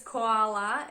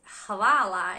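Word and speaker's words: hvala: so I guess they were used to people mispronouncing hawala or koala sounds similar enough so just use koala as a last resort by now you should have practiced Halala at least 10 times so let's just keep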